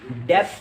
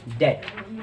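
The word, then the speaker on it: debt: जी नहीं, डेप्ट नहीं बल्कि डेट। इसमें जो बी होता है वो साइलेंट होता है, डेट।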